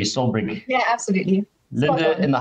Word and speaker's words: Solbrig: Is that pronounced correctly, Solbrig?